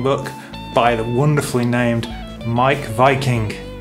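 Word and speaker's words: Meik Wiking: Again, a really famous best-selling book by the wonderfully named Mike Viking. It's spelled Meek Viking, but he's a guy who studies happiness, and this is the Danish way to live well.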